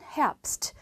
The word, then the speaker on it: Herbst: 그 다음에 가을이란 단어는 Herbst, 프 발음이 나긴 하지만 철자는 B라는 철자가 들어갑니다.